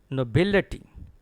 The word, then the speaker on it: nobility: The next word is like this one, nobility. Not nobility. It is actually a T. And stress is on BIL.